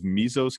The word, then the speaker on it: Mesos: personal finance he is also the principal of mezzos capital am i pronouncing that correctly yeah yeah excellent pancham has